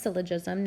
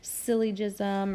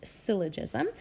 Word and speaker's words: syllogism: law of syllogism so this word here is pronounced syllogism not syllogism or I'm it's hard I know it looks kind of hard to say but it's syllogism and the easier way to say it is